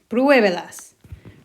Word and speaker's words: pruébelas: Pruébelas. Remembering to put an accent on that first syllable so we still emphasize it.